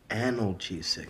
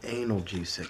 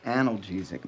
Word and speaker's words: analgesic: happened that's actually pronounced analgesic not anal g6 it's actually pronounced analgesic not anal geezic all right the pills